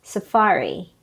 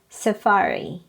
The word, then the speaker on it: safari: word is also confusing remember the stress is on the second syllable so it is pronounced as safari not safari again it is pronounced as safari next a lot of